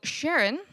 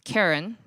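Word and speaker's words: Charon: it would be karen he wanted to pronounce it sharon because his wife's name was sharon so he tied that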